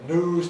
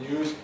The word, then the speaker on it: news: Like Londoners, Americans drop yod after N. So they say news typically rather than news. It's variable in American English. There are a few people who say news, but most Americans say news.